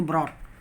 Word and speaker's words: brought: और परंतु जब जीएच शब्द के बीच में होता है तो इसका उच्चारण नहीं होता है। जैसे ब्रॉट, BROUGHT, ब्रॉट, ब्रॉट, बाट, BOUGHT, बाट।